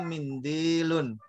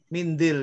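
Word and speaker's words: مِنديل: Dia mimnya kasroh. Mindil ya.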